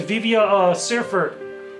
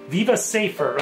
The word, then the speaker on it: Viva Seifert: Best performance goes to Vivia Seifert. I'm really pronouncing her name wrong. Viva Seifert, okay, from Her Story.